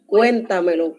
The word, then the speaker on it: cuéntamelo: Jordachi, Cuéntamelo con acento en la primera E.